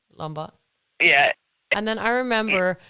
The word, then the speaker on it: Lombard: It's Lombard.